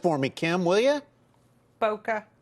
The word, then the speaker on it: Bokeh: me kim will you boca bocca why don't you do it like boca raton i mean uh yeah kinda it is a photography